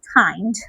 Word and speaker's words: hind: হাইন্ড, sorry, হাইন্ড, HIND, হাইন্ড।